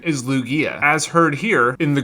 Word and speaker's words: Lugia: name in that video what i said was lugia but the actual pronunciation is lugia as heard here in the greek version of